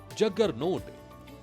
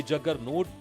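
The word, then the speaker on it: Juggernaut: लेकिन बहुत कम लोग जानते हैं कि जग्गर नोट असल में जगन्नाथ का ही अंग्रेजी रूप है। संस्कृत का शब्द जगन्नाथ है। यानी जगत का स्वामी विदेशी यात्रियों ने जगन्नाथ का उच्चारण अपने तरीके से किया। धीरे-धीरे जगन्नाथ शब्द उनके लिए जगन्नोट में बदल गया और फिर इस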